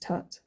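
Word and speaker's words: twt: So, coming back to Twit, the hieroglyph for image, likeness, statue is twit or Pronounced tut, as in Tutankhamun, which means living image of Amun.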